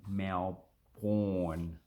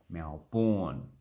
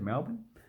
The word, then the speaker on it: Melbourne: like the first one people pronounce it mel porn melbourne do we actually pronounce it like that no that's why i've got it in brackens you just say so you get rid of all that all the vowels all the consonants pretty much the left with